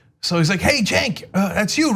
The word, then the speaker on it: Cenk: Because the haters, they're less likely to know that it's pronounced Cenk, etc.